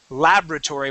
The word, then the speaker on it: laboratory: You can say laboratory or you can say laboratory. Personally, the way I was taught is I say laboratory with the accent at the very beginning.